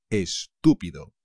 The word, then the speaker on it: estúpido: estupendo estupendo Stupid estupido cuidado con el acento chavales estúpido este es listo pues